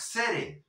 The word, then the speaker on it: city: recuérdale ahí grave y la t como r suave porque está en sonidos volcánicos c tú Oyes las canciones New York City the city Yes pregúntale